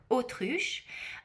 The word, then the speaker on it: autruche: The next one is ostrich leather, which in French is pronounced autruche.